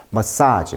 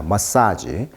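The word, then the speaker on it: massage: 머사지 발음입니다. 머사지.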